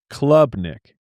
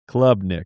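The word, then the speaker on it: Klubnik: They have Clubnik. Like, find me on the club. All caps, C-L-U-B, for the pronunciation. Clubnik.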